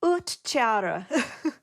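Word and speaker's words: ūhtcearu: try to pronounce it is it oat Cyril it's utara ooh okay what everyone who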